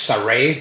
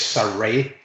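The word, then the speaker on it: Sarray: pronunciations um well the nht name is is pronounced surrey as far as i'm aware because i heard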